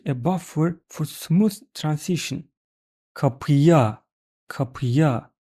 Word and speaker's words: kapıya: If you don't use buffer, then this is very hard to pronounce and it is preventing you to speak fast. Let's compare both ways. Kapıya, kapıya. Very smooth transition. Kapıa, kapıa. Look, between two vowels, I needed to stop.